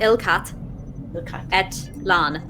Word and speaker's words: Ilkat et Lan: Like a sick cat, Ilkat et Lan.